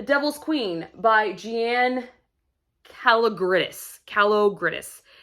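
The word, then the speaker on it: Kalogridis: queen by gian calagris calo gridis is how you say her name i think so i have two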